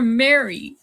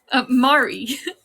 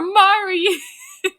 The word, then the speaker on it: Mari: I'll do it for Mary. Mari. Oh, wow. Now I'm pronouncing it wrong. Whew. I'll do it for Mari.